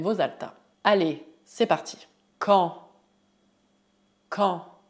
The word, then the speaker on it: quand: Prestez atenção à pronúncia. As letras Q e U fazem o som que. Que. A combinação A mais N forma o som nasal en. En. Quanto ao D final, ele é mudo.